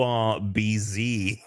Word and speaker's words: herbs: I thought you were saying the herbs cuz the way Americans say herbs is without the H. Yeah. I was like, "What are you talking about?" Sure. Okay. The herbs, the ru the urb.